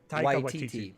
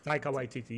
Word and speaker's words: Taika Waititi: So this director now is, pronounce his name for me again, please. I always get Taika Waititi. Yep. Taika Waititi, yeah.